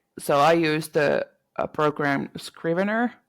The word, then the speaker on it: Scrivener: So I use the program Scrivener. How to hmm pronounce it?